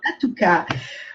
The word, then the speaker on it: Lattuca: Je ne sais jamais comment on dit, Latoussa ou La Tuca, c'est bien. Latouka.